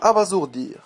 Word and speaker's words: abasourdir: deè erreur le verbe abasourdir un S entre deux voyelles se prononce Z le mot abasourdir ne